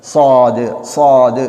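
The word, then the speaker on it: صاد: அதாவது அந்த எழுத்துடைய உச்சரிப்பை சரியாக நாங்கள் சாது சாது என்று மொழிய வேண்டும் அதாவது நாவு இரண்டு பட்களுக்கும் நடுவால் நாவை வைத்து நாங்கள் அந்த வார்த்தையை சொல்ல வேண்டும் அதற்கு அடுத்தபடியாக வாது என்ற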